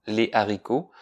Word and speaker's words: haricots: Ici, on t'a fait pratiquer la différence entre le H aspiré, comme dans hibou et haricot, sans liaison, on dit les hiboux, les haricots, et le H muet, comme dans homme, on dit les hommes.